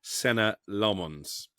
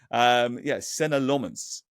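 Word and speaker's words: Senne Lammens: Well, I think I've pronounced it about 16 different ways over the course of the summer, but we're told it's Senna Lomons.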